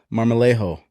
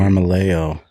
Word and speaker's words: Marmolejo: Today, I'm here with my good friend Marmolejo. Nice pronunciation. Did I say it right? That's it. All right. Yeah, you could roll the R if you want, but I'll leave that up to you. Marmolejo.